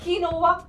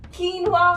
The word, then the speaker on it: quinoa: कीनोवा, क्यूनोवा, कीनवा, Keanu. Okay okay, let me tell you, इसकी सही pronunciation है कीनवा।